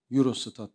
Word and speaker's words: Eurostat: Avrupa Birliği istatistik ofisi eurostat Euro stad diye okunuyor verilerine göre 2021 yılında